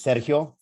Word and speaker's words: Sergio: area my name is sergio uh s e r so the emphasis is on the that first syllable the j is like an h so don't get it twisted like siri it's sergio if you can roll